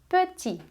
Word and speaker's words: petit: Pequeno em francês se diz petit, petit, petit, tá? Você não pronuncia o T final.